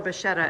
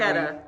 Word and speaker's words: Bacchetta: Right, yeah, so it is definitely- Bacchetta. The CCH sound in Italian is definitely a K.